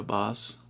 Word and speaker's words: Bass: pesada pra sal buzz uma pessoa chamada em 10 mas pela origem da droga se pronuncia buzz a life nem filme